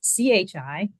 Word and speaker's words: qi: So TCM believes that the body's vital energy, called qi, or pronounced chi, flows along channels and meridians in the body.